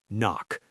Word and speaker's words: NOC: NOC, pronounced knock.